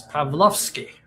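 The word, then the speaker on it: Pawłowski: So his name is Pavlovski. I'm pronouncing it in the Polish way.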